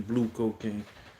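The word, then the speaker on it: Blve Cocaine: I believe that's how you say her name, Blue Cocaine. Like I said, it's spelled BLVE on the flyer.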